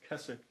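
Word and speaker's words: Keswick: w IC K but they don't pronounce the W so it's Kecak it's less than 20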